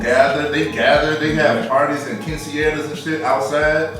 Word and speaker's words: quinceañera: But you gotta roll the R in there, yeah, too.